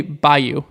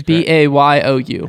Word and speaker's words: bayou: how do you say by you be a b-a-y-o-w the by you i think that's b-a-y-o-u by you the bayou i know as the new orleans word i don't know buy